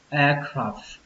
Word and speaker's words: aircraft: Nhưng mà khi chúng ta đọc nhanh thì các bạn hãy quan trọng âm F thôi các bạn nhé. Nghĩa là các bạn phờ nó ra một cái thì nó sẽ chính xác.